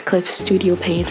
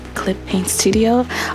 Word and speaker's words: Clip Studio Paint: And Clip Studio Paint is the program I'm using, and I know that I normally mispronounce the name. It's Clip Studio Paint. Sometimes I say Clip Paint Studio.